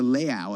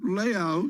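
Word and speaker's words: leu: Is it pronounced the L-E-U? You know, Miriam, just corrected me on that. It's the Leau, I think.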